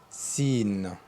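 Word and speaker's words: ص: Il se faut S avec le point puisque le son c'est pas un S. Ça se lit s.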